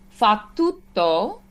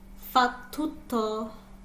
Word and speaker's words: fa tutto: fa tutto. Fa tutto. Good. And that double T, we kind of linger.